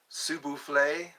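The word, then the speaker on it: s'il vous plaît: magic word please please sule that's how they say it in French sule if you please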